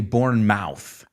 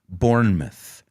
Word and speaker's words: Bournemouth: The British, they don't say Bournemouth. Aunque es la palabra mouth, lo pronuncian myth. Bournemouth, okay?